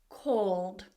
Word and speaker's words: called: So this word, for example, call, or, if we add the ed, it becomes called, called. So we're pronouncing the ed now as a d, called.